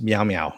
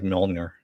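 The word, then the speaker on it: Mjölnir: Raymond says it's pronounced meow meow. Yes, I know. I know it's pronounced meow meow. I just like Mjolnir.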